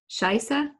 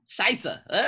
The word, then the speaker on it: Scheiße: I should start saying Scheiße. Just saying it in German, because in German it's really not a bad word. How do you say it in German? Scheiße. Scheiße.